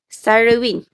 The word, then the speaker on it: Sarawin: you one okay um am i pronouncing your name correctly sarawin yes doctor okay uh uh sarwin isn't it or sarwin